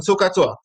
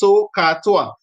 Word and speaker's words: SOHCAHTOA: And it's like three separate syllables. SOHCAHTOA.